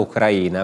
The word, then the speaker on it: Ucraina: vera storia Ucraina o Ucraina perché sarebbe giusto pronunciare Ucraina Ucraina mentre Ucraina è la persona la donna ucraina No no Ucraina è una pronuncia sbagliata nostra occidentale diciamo va bene Abbiamo Ecco